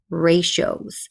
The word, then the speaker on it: ratio: We are learning all about ratios. So the TIO, the T is pronounced with a sh, like on the TION, shun ending on words, like in the word communication.